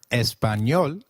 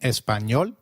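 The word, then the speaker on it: español: The letter A is pronounced as a as in father. Did you notice the letter in espanol? This letter is peculiar to Spanish. It is pronounced as ni like in canyon.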